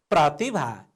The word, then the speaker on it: प्रतिभा: प्रतिभा। हेर्नुहोस् त भाइ बहिनीहरू, यहाँ यो रेफको रूपमा प्रयोग हुँदा पनि र उच्चारण भएको छ।